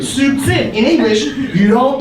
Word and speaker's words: subtil: Subtil has a B. We pronounce it. Subtil.